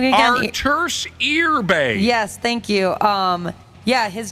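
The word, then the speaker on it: Artūrs Irbe: Arturs Irbe.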